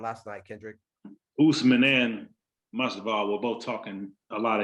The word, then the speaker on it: Masvidal: I feel like Masvidal, how do you pronounce the last name? Is it Masvidal? Masvidal.